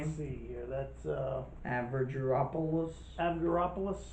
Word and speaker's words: Avgeropoulos: That's Avgeropoulos. Avgeropoulos.